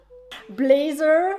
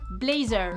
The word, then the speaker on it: blazer: de son blazer que tu rigoles blésser comme les belges blazer déjà vieille frites tu as aussi un accent belge et puis je te signale que c'est un mot anglais qui se prononce blazers n'importe quoi ah oui